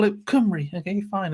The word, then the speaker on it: Cymru: In fact, it was only when I moved to Wales that I realised that Cymru is spelt or pronounced Cymru. My English brain was reading it as Cymru, which is obviously not right.